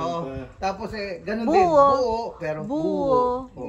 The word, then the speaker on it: buo: buho M buo buo actually buo ang pronunciation pero ang spelling niya is buo bu o dahil kasi puro batanguen